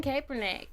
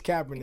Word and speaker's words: Kaepernick: get right into it let's do it Colin Kaepernick is that how you say it Kaepernick I'm